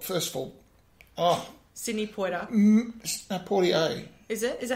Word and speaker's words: Poitier: I loved Sydney Poitier. First of all... Oh, Sydney Poitier. Poitier. Is it? Is that how you pronounce it?